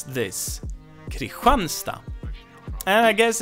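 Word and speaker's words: Kristinehamn: the name that makes sense it's Christians City Christian stop but we pronounce this Creek run stop and I guess it's due to dialects and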